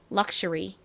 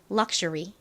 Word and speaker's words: luxury: 로 돌아와서요 발음해 볼게요 luxury 한 번 더 발음 연습해 볼게요 한국식으로는 리라고 적지만 정확히는 여기 R 왔기 때문에 발음이 어떻게 되죠 re 요런 식으로 발음이납니다 해볼까요 luxury 좋습니다이 럭셔리라는 말은 사실